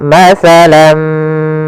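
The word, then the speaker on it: مثلًا ما: Karena bertemu mim, tanwinnya masuk kepada huruf mim, tinggallah bunyi suara huruf min. Maka masalam ya. Nah, kita namakan gumbigunah pula ya. Kemudian caranya adalah kita tahan dulu mimnya.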